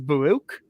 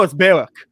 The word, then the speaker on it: Baruch: was everyone in here is pronounced as baruch and when everyone tells him he goes no it's barrack it's filled the exact